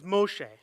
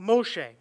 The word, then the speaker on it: Moshe: So the Hebrew word for drawn out is Moshe. And that may not be exactly right, but I'm not Hebrew. So Moshe, which sounds like Moses.